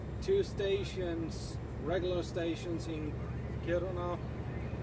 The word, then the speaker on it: Kiruna: stations, regular stations in Kiruna or Kiruna, as American would say it. Or at least the Americans I know, how they have pronounced the name, the city name, Kiruna.